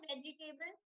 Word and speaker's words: vegetable: So it's vegetable, not vegetable, not vegetable, none of that. It's vegetable. Okay, so you say it fast, it'll be vegetable.